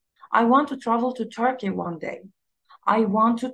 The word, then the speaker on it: Turkey: شفتوا كي اتخطفت بسرعة جدا، تر هي اللي عليها الستريس، فبقولها Turkey. I want to travel to Turkey one day.